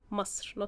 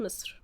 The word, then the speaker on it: مصر: مصر, not مصر. مصر is the proper pronunciation of the country. We see, in the modern standard Arabic it's مصر, but in Egyptian we say مصر.